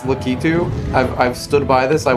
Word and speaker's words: Lakitu: There's no ah sound in Japanese. It's not Lakitu. And yeah, it's the English, like, version of his name, but no. Lakitu. Lakitu. I will die on this hill.